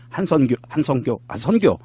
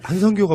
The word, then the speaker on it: 한선교: 이게 한성교가 뭐예요? 한성교. 선교래니까 그게 잘못 발음을 했어요.